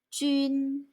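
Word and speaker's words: 军: 군대의 군자를 쓰고 중국어로 jun 일성, 준 하고 소리냅니다. 군대, 준.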